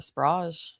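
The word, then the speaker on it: Sprague: I don't know if it's Sprag or Sprag or Sprag. I really don't know. We'll just go with Jen. Jennifer. Oh, it is pronounced sprag.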